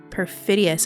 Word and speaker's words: perfidious: Perfidious. And perfidious is spelled P E R F I D I O U S.